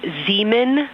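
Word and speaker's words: Zeeman: We believe that that is Zemen Crater. Zean. Okay. And can you say the first letter? I may be pronouncing that wrong.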